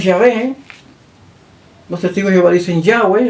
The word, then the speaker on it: Yahvé: Entonces se fue perdiendo la pronunciación real de ese nombre. Pero lo más cercano es Yahvé.